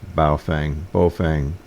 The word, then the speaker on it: Baofeng: I'm just using, I think it's pronounced Baofeng, whatever, UV-5R, that ubiquitous transceiver."